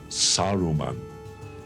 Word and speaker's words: Saruman: It is Saruman.